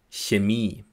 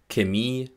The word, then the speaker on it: Chemie: Wörter, die mit dem Ich-Laut beginnen, gibt es nur wenige. 2 Beispiele. Chemie, China. Vor allem im Süden Deutschlands spricht man hier aber ein K. Chemie und China.